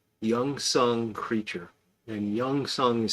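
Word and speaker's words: Gyeongseong: but it's uh it's a korean-made show called youngsung creature and youngsung is spelled with a G it's like G yeu if you search G ye you'll probably find it on Netflix but it's it's pronounced youngsong creature and it is just a really good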